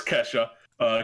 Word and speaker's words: Kasia: have my girl Kasia it's spelled Kasia but it's Ke$ha cuz I refer everything